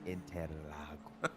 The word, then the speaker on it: Interlagos: There's more syllables than that, Mason. It's Interlagos.